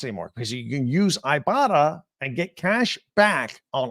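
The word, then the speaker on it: Ibotta: store or Google play or download the free ibata app and start earning cash back use the code locked on College that's ibata I'll spell it for you IBO ttaa IB o TTA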